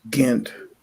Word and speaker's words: Ghent: It's Ghent, by the way. Ghent, whatever. I forget the pronunciation of that word.